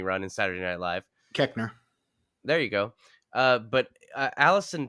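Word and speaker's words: Koechner: Collette and everything, and David, I can never pronounce his last name, from Run Ronnie Run and Saturday Night Live. Keckner.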